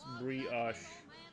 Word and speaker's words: brioche: I drink it with it's pronounced brioche.